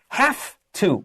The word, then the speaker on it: have to: we say bishou yao it becomes half two with an ff sound write that down so